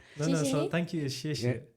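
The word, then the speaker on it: 谢谢: No, so thank you is 谢谢.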